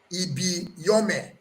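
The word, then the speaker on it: Ibiyeomie: that is the surname but the way i pronounce it is bishop david he be your man to the northern christians now he proceeded to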